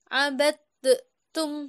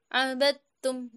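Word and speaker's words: عبدتم: Maka membacanya tidak usah abadtum seperti itu, bukan. Karena huruf dal dan ta ini sejenis. Seperti itu, enggak usah membacanya abadtum, enggak usah. Tapi membacanya langsung abadtum seperti itu.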